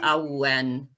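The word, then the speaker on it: Awen: each of them and it's called the owlen a-w-e-n i think they pronounce a when but it's kind of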